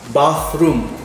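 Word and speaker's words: bathroom: kamar mandi kamar mandi bahrum ingat ya bawah room bukan bedroom ya pengucapannya ya Blaze Saya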